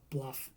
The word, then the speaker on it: Blough: moment, Josh Dobbs, David Blau, I'm assuming it's Blau and not Bluff because it's spelled Blough, and Clayton Tune.